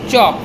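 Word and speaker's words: chalk: যেমন চক সি এ এল কে চক আমরা লিখি বাট উচ্চারণ করার সময় কিন্তু এল এর উচ্চারণটা আমরা করি না সুনামি টি এস ইউ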